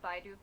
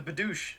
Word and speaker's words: Bidoof: It's a Bidoosh.